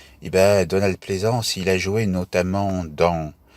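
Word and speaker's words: Pleasence: Je le prononce à la française parce qu'on parle des ports de Plaisance. Et Donald Pleasance, il a joué notamment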